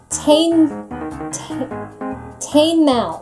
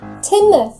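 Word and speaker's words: Teignmouth: Tame mouth. No. Tame mouth. Nope. No? No. Teen mouth? You're getting closer. Timmouth. Huh? Timmouth.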